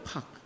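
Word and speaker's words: פח: 그런데 오늘이 올무라고 하는 원어의 발음이 뭔지 알아요? 파이요. 팍.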